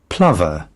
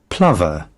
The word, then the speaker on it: plover: don't um so I have weird ways of pronouncing stuff Plover see I got it right God damn it that's how you pronounce it Plover Plover Plover see I I pronounced it right I